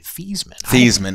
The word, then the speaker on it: Theismann: I guess that he they changed the pronunciation he recognizes it but it used to be feesman I don't remember that